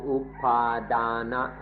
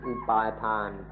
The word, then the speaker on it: upadana: Concept ว่าตัวตนหรือเส้นนี้เราเรียกว่าอุปาดานะหรืออุปาทานหรืออุปาทานหรือ attachment เพิ่งมีเดี๋ยวนี้เอง This concept of me is called upadana, or in Thai pronunciation upatan, which has just happened.